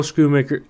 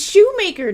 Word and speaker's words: Schumacher: It was director Joel Schumacher. It's Shoemaker, dude.